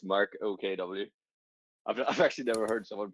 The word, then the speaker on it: Mark OKW: Mark W. Please come on stage. Good day, sir. Hello, yeah, it's my initials, so it's Mark OKW.